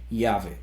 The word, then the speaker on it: Yahweh: Yeah, Eloy Casagrande, he was from a band called Yahweh, Hmm.